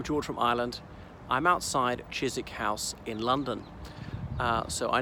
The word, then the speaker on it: Chiswick: respected viewers I'm George from Ireland I'm outside Chyzyk house in London so I know it might be spelt Cheers wick but pronounced Chyzyk so this is a stately home which was